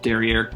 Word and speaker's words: derriere: derriere because you know derriere kind of rhymes with millionaire and that's funny and